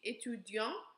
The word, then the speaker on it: étudiant: So the first one, je suis étudiant, that's masculine. We do not pronounce that last T.